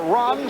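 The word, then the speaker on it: Rohn: What a punt for Ron, spell it R-O-H-N, Stark.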